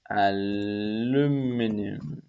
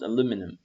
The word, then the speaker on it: aluminum: and i'm going to call this material aluminum aluminium aluminium but it's pronounced aluminum now let's go to the material preview tab